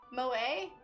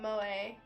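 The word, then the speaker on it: 萌え: the the name mo it's pronounced mo a oh moe it means adorable or cute in japanese well i learned something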